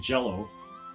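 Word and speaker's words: Green Jellÿ: that the band green jello yes it's actually pronounced jello despite being spelled jelly should have an umlaut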